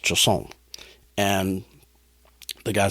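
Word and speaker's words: chausson: eaten in France, and it is called a Choson. C H A U S O N. And that's the way it's pronounced, Choson.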